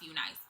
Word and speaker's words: Unice: The company that I am reviewing today is Unice or Unice. I think it's pronounced Unice.